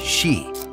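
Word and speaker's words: 四: to be very unlucky it is sometimes pronounced she which is the word for death that's why some buildings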